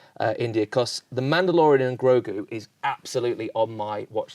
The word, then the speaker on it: Grogu: The worst person to ask about this, because I'm like, what, Grogu? Yeah, Baby Yoda. Yeah, well, you got the pronunciation right.